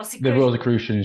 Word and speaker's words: Rosicrucians: The Rosicrucians. Rosicrucions, yeah, yeah. The Rosicrucians. Rose and the Cross.